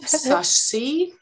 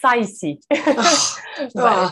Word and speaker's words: Saisi: and feminism by, and excuse me if I don't pronounce it correctly, Sashi. Almost, it's Saisi.